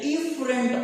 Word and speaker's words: efferent: थोड़ा सा फर्क है प्रोनाउंसिएशन के अंदर भी और स्पेलिंग्स के अंदर भी। जो ब्लड आने वाला है वो आता है एफरेंट आर्टियोल से, AFFERENT, और जो ब्लड मूव करके जा रहा है वो इफरेंट, EFFERENT. You should differentiate both of these arterioles.